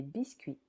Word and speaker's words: biscuits: Des biscuits. Biscuits. Silent T et S.